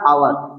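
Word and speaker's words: hour: तो पहले सबसे पहले इसका उच्चारण लिखेंगे, इसे हम पढ़ेंगे क्या, आवर, इसे पढ़ेंगे आवर।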